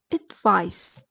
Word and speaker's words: advice: The noun advice ends with a soft s sound, so it's pronounced advice.